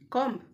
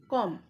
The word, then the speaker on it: comb: So let's learn some daily use mispronounced words with their correct pronunciations. Number 1. This is comb. This is comb.